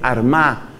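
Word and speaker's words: Armagh: la sede san patricio fue arma que se escribe con gh al final san patricio desde la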